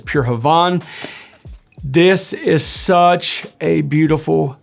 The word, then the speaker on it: Pure Havane: I've heard it pronounced both ways. I think the correct pronunciation is Pure Havane.